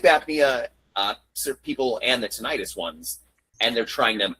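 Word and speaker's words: tinnitus: Titus tenis titis. Tonitis.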